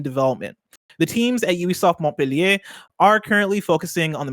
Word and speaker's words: Montpellier: That's how you pronounce it. That's how you say it, Montpellier.